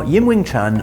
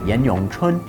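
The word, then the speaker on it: 嚴詠春: Now, Yin Wing Chun, or to use the Mandarin pronunciation of her name, Yan Yong Chun, is the legendary founder of the Wing Chun style of Kung Fu.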